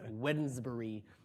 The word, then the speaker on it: Wednesbury: It's it's spelled like with a D in there, like Wednesday, but it's Wednesbury reasonableness.